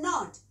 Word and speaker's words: knot: Not and not, KNOT, इसमें K silent है इसलिए इसको भी not बोलते हैं, और NOT को भी not बोलते हैं।